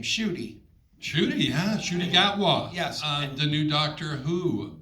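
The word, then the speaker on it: Ncuti Gatwa: told me that uh and you'll have to pronounce his name shoy shoy huh shy gwa yes the new Doctor Who right wow worked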